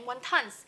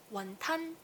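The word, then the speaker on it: 雲吞: In Mandarin, we call wonton Wonton. In Cantonese, it's called Wonton. As you can tell now, the word wonton it actually came from the Cantonese pronunciation.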